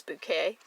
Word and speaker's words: Bucket: comedy keeping up appearances where you have mrs bouquet who caught who's the actual spelling is bucket but she insists it's bouquet so same thing with her